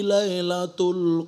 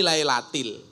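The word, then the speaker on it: لَيْلَةِ: Inna anzalnahu fi lailatul qadr. Kan salah. Yang kan harusnya jar majrur fi lailatil.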